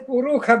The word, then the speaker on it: Purusha: He says Purukha because the Madhyandina Shakins they pronounce as Purukha only.